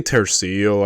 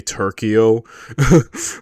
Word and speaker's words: tercio: I say Tercio. I heard some people say Turko, but um I guess the th is the more I think proper way to pronounce it.